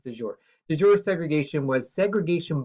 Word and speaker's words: de jure: Up until 1965, the civil rights movement was fighting something called de jure segregation, or de jure, depending on your pronunciation, but it's de jure.